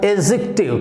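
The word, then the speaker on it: adjective: Okay, next one इज जिसको आप एडजेक्टिव बोलते हैं, डी साइलेंट रहेगा और क्या बनेगा? एडजेक्टिव।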